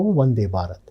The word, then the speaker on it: Vande Bharat: So should we pronounce it as F sound or as V sound? Now Vande Bharat is not a German word. It is an Indian word. In Indian language, we say it as whatever, Telugu, Hindi, whatever the language is, we say it as Vande Va. So that's how Vande Bharat. That is the pronunciation of that particular word.